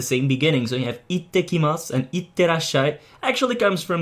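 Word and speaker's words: 行ってきます: Now notice how the s sound at the end, just like with ohayo gozaimasu, is not really pronounced. It's, you can pronounce it again, but it sounds more feminine and more playful. It's up to you whether you want to do it or not, but I would say stick with the neutral pronunciation for now.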